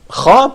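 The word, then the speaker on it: خ: It says that the letter kha represents a sound that's pronounced deep in the throat, probably could be close in a certain way. For ha, it has no equivalent in English.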